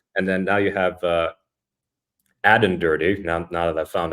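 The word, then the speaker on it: Aden: and then now you have Adden Dirty. Now that I found out that his first name rhymes with Madden, first time defensive coordinator.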